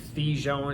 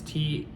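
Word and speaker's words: thujone: It's like thijon, it's Thijone.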